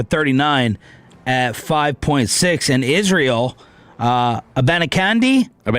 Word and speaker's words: Abanikanda: And Israel, Abanikanda. You don't pronounce the final D on there? No, I did. Abanikanda. No, now you did.